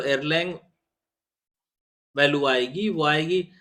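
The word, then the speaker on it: Erlang: of available channels one एयर लैंग represent the amount of traffic देखिए एयर लैंग जो मैं कह रहा हूं दैट इज उसकी स्पेलिंग है ई आर एल ए एन जी एसे तो वन एयरलंग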